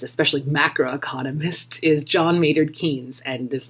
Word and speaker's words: Keynes: One of our most famous economists, especially macroeconomists, is John Maynard Keynes, and this name is tricky to pronounce, so it's Keynes. Keynes.